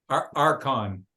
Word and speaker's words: archon: time, if you were an administrator, like an archon, how did you pronounce that? Archon.